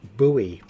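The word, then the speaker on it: buoy: sea traffic must be I thought Americans pronounced it Bowie but uh well I we pronounce it boy here you redirected away from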